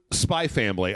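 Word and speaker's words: Spy × Family: I is it Spy X family or spy cross family? I've never been sure about the actual I think that it's all I was just spy family. I think that you don't even pronounce the X.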